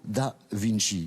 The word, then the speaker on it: da Vinci: ici dans ce château, voici la tombe de Leonardo da Vinci. Voilà, c'est comme ça qu'il faut le prononcer. Originaire de Vinci. Originaire et donc, de Vinci.